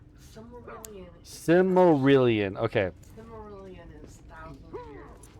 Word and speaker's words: Silmarillion: Similarian? Cimmerillion? Did I say it right? Silmarillion.